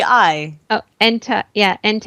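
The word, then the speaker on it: Entei: legary yeah I heard hentai as well I'm like what were your parents showing you yeah e n t e I oh ente yeah ente ente hard my pronunciation the H is silent it it didn't it was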